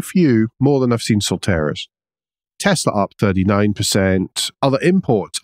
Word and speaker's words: Solterra: You pronounce it? Solterra. Solterra, thanks.